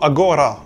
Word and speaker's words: agora: Par exemple, ahora, qui veut dire maintenant en espagnol, se dira en judaismo agora, où le G est maintenu.